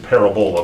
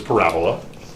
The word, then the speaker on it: parabola: it starts with p yeah it's called the parabola it almost looks like you can pronounce it parabola but it's parabola and what is a parabola well a parabola